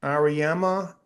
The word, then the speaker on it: Auriemma: Auriemma back with another national title after he fucking ran that whole league forever.